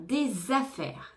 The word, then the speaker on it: des affaires: affaires dans le garage on fait bien la liaison entre D et affire des affaires des affaires dans le garage étein les lumières avant